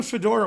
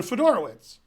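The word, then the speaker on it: Fedorowicz: in a similar note John Fodor oh it's okay he's John fedora wits and then a lot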